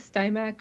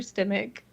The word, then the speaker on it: Stimac: your last name um the American way is stac or stemach I can't actually pronounce the C Croatian okay and I I